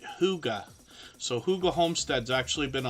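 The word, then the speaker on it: Hygge: channel in the chat it's actually spelled h y g g e but we pronounce it Huga so Huga homestead's actually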